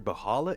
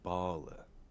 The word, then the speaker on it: Bahala: getting it near near bahala there's an H in there I don't get why there's an H is silent age near Bala there you go we'll